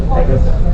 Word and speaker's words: Pecos: So if you go, or actually, by the way, it's actually pronounced Pecos, but we all say Pecos.